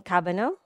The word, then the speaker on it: Cabagnot: so my name is cabano I'm pronouncing it in a French way um so I'm my